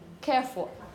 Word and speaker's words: careful: In this case, it's always going to be with a schwa. So it's not full or full, no, it's full, full, full. With a poor schwa, not totally unstressed and, yeah? Can you say it again? Careful. I'm exaggerating a bit, but try and think that by the time you get to the end of a word, you've used all your energy in the beginning. Careful, careful, careful.